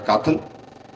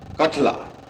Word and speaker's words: कठला: से क्या नाम है, काथल, क्या नाम ये कौन सा स्कूल है? अच्छा नहीं, स्कूल का नाम काथल कठला। अच्छा, जो स्पेलिंग गलती लिखी ना, इसको ठीक करना चाहिए।